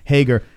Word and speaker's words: Hager: Sean Hart says Hager rhymes with his nickname Swagger.